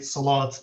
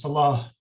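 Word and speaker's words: صلاة: So taking this example of these words like we very often say salat these days with the final T, but the proper classical Arabic pronunciation is salah.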